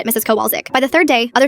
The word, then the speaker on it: Kowalczyk: "It's Kowalczyk," she shouted, slamming her hand on the desk. Kowalchik.